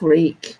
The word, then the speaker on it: Reek: and and reek reek reek rhymes with wheat and he thinks the